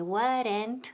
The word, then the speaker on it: weren't: Now, ojo, la pronunciación, weren't. Una sílaba, no dos. No decimos weren't ni weren't, ¿ok? Decimos weren't, weren't, y con T al final.